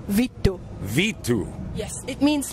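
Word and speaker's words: vittu: it on stage it's Vito it is v i t t u but it would be pronounced as V e e t t u Vito Vito yes it means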